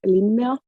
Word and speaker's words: Linnea: I'm so happy to be here um I'm Lina uh which is a nightmare name to pronounce it English but uh you're doing fine